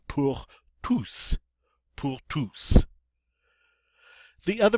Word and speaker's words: tous: Normally this word is pronounced tu. The S is silent. However, when it follows a preposition like this, we get to pronounce the S. So it's going to be pour tous.